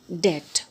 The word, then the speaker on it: debt: So, children, here also B is silent, so we have to pronounce it like debt.